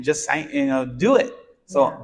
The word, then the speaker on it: Jus Sayin: um no no so just saying and that's spelled j-u-s and then s-a-y-i-n correct no G no T and no G just saying so where did this